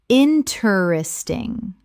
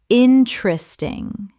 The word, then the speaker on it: interesting: Interesting. Correct pronunciation. Interesting. 3 syllables in natural speech. The second E disappears entirely.